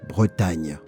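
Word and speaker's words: Brétigny: It's pronounced Bretagne.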